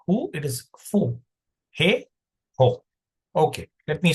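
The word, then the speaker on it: ふ: It's not written who, it's fu. I mean, it's not pronounced who, but fu.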